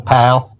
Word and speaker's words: Powell: Pow. You gotta say it like that. You have to say it like a local Pow.